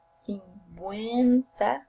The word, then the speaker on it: sinvergüenza: these syllables, but still, if you see a word that have these 2 points, it means that you have to pronounce the vowel U. So it will be gue, we. Okay? Like here, these words, sinvergüenza o lingüística.